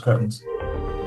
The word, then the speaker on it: cretins: I open the door and just So I think I could just All right, so stop you cretins. I don't know. It's pronounced curtains.